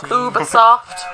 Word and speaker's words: Ubisoft: Ubisoft. Ubisoft. Ubisoft. That's how they pronounce it in North America.